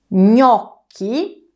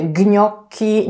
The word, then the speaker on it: gnocchi: widelca Jak wymawiamy wnioski wyraz ten zapisujemy przez GN ja o tym połączeniu Już wam kiedyś opowiadałam czytamy to jak ni mięciutko cecha natomiast czytam jak k gnocchi to prawidłowa wymowa nie mówicie więc gnocchi nie mówicie gniotki nie mówicie nie o ci Pamiętajcie gnocchi ewentualnie Minionki